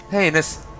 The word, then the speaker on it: heinous: Heinous rhymes with anus.